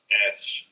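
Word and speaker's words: ř: The actual letter itself is pronounced ersh.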